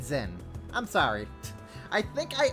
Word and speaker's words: Jin: Um, I'm Jin. Don't think I'm quite the figure you make me out to be, though. I'm Jin. Okay, they pronounce it as Jin. I'm going to keep saying Zinn.